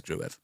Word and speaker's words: Gruev: But I'm pretty sure he has since clarified now it is Gruev.